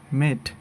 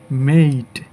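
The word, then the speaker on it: mate: এরপরে এটাকে আমরা বলি মেট, আসলে এটা সঠিক উচ্চারণ হবে মেইট, মেইট।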